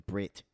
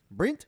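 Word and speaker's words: Bret: Brent or Brit Brit it was Brit you can't tell you say it like that no one is Brent Flight of the Conchords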